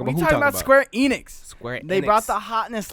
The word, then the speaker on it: Enix: We're talking about Square Enix. They Enix. brought the hotness last night when they... It's not Enix, it's Enix. Enix. Square Enix.